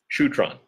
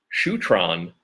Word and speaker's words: Shutran: Now, I've heard it pronounced Shutran and also Shutran, and it depends on who's saying it. I've heard Gary Young actually call it both at different stages. But pronunciation issues aside, there is more to the story of Shutran. I like to say Shutran because that's what I heard Gary say the most.